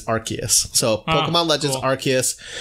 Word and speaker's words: Arceus: People used to pronounce it as Arceus, but it's Arceus.